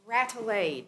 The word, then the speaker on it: Rade: Mrs is it uh three syllables or two it's rade it's kind R thank